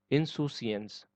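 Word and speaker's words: insouciance: है, तो उसको बोलेंगे इनसोशियंस, इसको इनसुशियंस बोलेंगे, ठीक है, सऊ नहीं बोलेंगे, सू बोलेंगे इसको, ये सू प्रोनाउंस होता है, इनसुशियंस।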